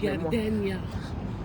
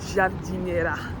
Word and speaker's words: giardiniera: Gardenia. Gardenia. Giardenia. C'était Giardiniera.